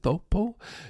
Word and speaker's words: Taupo: We were in New Zealand at, I believe we were driving into Thopo, it looks like Taupo. I think they pronounce it Thopo, New Zealand.